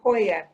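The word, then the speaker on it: Poja: i want to mention to everyone that it's pronounced uh it's a spelled poya p-o-j-a and as i said i i don't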